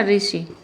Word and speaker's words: ऋ: लिखा जाता है ऋ तो ऋ का उच्चारण ऋ ऋषि मुनि वाला तो क्या होता है आर और आई होता है क्या होता है आर